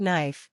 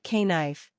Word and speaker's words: knife: the spotlight for example in the word knife the K is silent you don't say k knife you just say asterisk